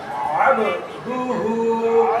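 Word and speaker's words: عبده: আবদুহু আবদুহু আবদুহু আবদুহুকে কেউ যদি আবদাহু পড়ে তাহলে ভুল হয়ে যাবে এমন ভুল যার কারণে অর্থ পরিবর্তন হয়ে যাবে তাই এটা বিশেষ করে সতর্কতার সহিত সঠিক উচ্চারণটা করতে হবে আবদুহু আবদুহু আবদুহু আবদুহু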